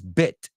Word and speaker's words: bit: one you said uh a little beat just be careful beat is bit right it's and then